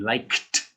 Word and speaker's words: liked: liked to dance liked this has a k sound at the end so it's like kt liked so you only add